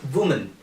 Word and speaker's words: woman: you are looking at, the pronunciation of this word is woman. So it is woman. And the second is women. So woman and women. Woman and women. So it is like woo, man and we.